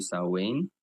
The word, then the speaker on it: Samhain: It's spelled Samhain, but it's actually Samhain.